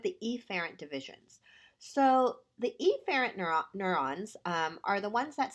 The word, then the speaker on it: efferent: Now technically they're pronounced afferent and efferent, but they sound so similar, I'm going to highlight the first letter.